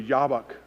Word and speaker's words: Jabbok: name itself sounds brutal jab Bach it would be pronounced in Hebrew yabok River the place of emptying